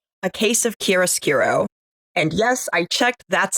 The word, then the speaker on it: chiaroscuro: Worlds season 4 episode 4, a case of chiaroscuro. And yes, I checked, that's how it's pronounced.